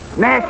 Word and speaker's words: gnash: Nash is spelled G-N-A-S-H, and the E is silent preceding the N.